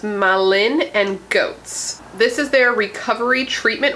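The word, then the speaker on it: Malin+Goetz: Okay, so this is from the brand, I believe is pronounced Malin and Goats.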